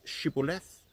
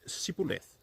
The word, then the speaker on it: Shibboleth: to pronounce the word Shibboleth, but the Ephraimites could not pronounce the H in the word and pronounced it Sibboleth.